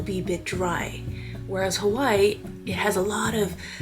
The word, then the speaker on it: Hawaii: I grew up pronouncing Hawaii as Hawaii, but locals would say more like Hawaii. So the W sounds more like a V.